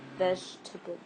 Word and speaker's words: vegetable: And this pronunciation, or the pronunciation of this word, is vegetable. Vegetable. Vegetable. This E is not pronounced, neither this E here.